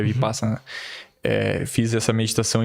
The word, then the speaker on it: vipassana: é vi vi vipassana vipassana se pronuncia vipassana eh fiz essa meditação